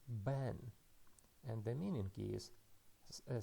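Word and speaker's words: בן: The first consonant is beit, and it is pronounced as B because it has dagesh. And after that we go to the vowel, and the vowel is tsere, and it is pronounced as E. And the final consonant is nun. It is nun sofit, and the sound is N. So we can read this word as Ben, and the meaning is a son.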